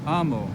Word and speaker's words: amo: So amo, I love. The stress falls on the penult. Amo.